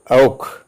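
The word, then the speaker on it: auch: ചേർന്ന് വരുന്ന അക്ഷരങ്ങൾക്ക് ചില ചില സ്ഥലത്ത് ഖ എന്നുള്ള ഉച്ചാരണം ഉണ്ട് ഉദാഹരണമായിട്ട് ഔഖ് എ യു സി എച്ച് ഔ എന്ന് പറഞ്ഞാൽ അതും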